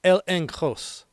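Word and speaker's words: ἔλεγχος: Confidence in the Greek is pronounced el enross meaning inner conviction, proof, evidence that persuades.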